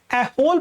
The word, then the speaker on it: ऐहोल: क्या पूछा गया है कि जो आपका एलो प्रशस्त है, क्या है? ऐहोल प्रशस्त है। ऐहोल प्रशस्त, मैं इसे गलत प्रोनाउंसिएशन क्यों कर रहा हूं भाई?